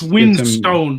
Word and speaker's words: Winstone: As Magog said, written Winstone.